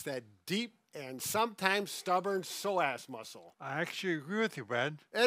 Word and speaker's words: psoas: We need to talk about the pronunciation of the psoas muscle. Now, I have heard a professional pronounce it as psoas.